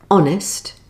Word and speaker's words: honest: Here are a few more words with a silent H. Hour, honour, honest, exhausted, vehicle, and ghost.